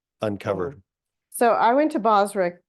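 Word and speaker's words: Bozrah: so I went to bosra Connecticut which is where my how do you say it thank you Basra and um I sat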